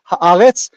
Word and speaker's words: Haaretz: It's Haaretz.